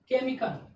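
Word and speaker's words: chemical: केमिकल, केमिकल means क्या होता है? कोई भी रासायनिक पदार्थ, जो कि सी के बाद क्या आ गया? एच आ गया। तो एच क्या हो गया? साइलेंट है।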